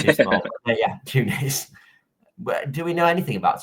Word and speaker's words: Tunis: about should surely be tuna. Is that how you say it? Tuna. I have no idea. Tunis is an S on the end.